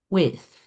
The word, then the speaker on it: with: how do you pronounce with right you stick out your tongue okay when you pronounce th your tongue comes out of your mouth right with okay with